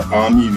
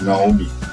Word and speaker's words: Aami: And the northern border of the Koliya territory is the Aami river, which is mispronounced as Naomi.